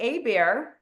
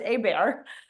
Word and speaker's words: Hebert: U, Abear, spelled Herbert or Hbert, but it's pronounced Abear.